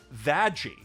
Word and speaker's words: VAZZY: are about is called Vazzy, which, due to the unique quirks of Japanese phonetics, is pronounced Vaggy, which in turn, of course, means that the title of this anime is, in fact, Vajrock.